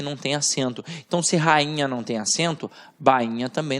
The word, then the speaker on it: rainha: Agora, quando eu falo rainha, ó, rainha, o I não tem som de I, ele tem